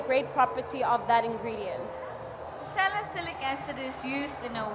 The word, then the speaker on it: salicylic acid: but also they have, I don't want to mispronounce it, by sialic acid, if am I pronouncing it correctly. One of the ingredients is sialic acid, which I think Oh, salicylic acid.